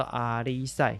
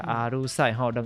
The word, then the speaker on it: 阿里史: 过来佫一个上重要，叫做阿里赛，或者阿鲁赛，两个发音拢有阿里赛、阿鲁赛。